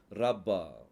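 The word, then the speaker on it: רבה: அப்படிங்கிற வார்த்தையும் மீனிங்கும் வரும் ரப்பா ஓகே புள்ளி வைத்ததுனால அது ப புள்ளி வைக்கலன்னா ரவான்னு ஆயிரும் அதனால இதை எப்படி உச்சரிக்கணும் ரப்பா அப்படின்னு சொல்லி உச்சரிக்கணும் அடுத்த ஒரு ஒரு எக்ஸாம்பிள்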